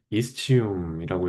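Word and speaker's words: ischium: 궁둥뼈는 이스치움이라고 읽고 볼기뼈의 뒤 아래쪽을 형성하고 절구 뒤쪽 5분의 1을 구성합니다.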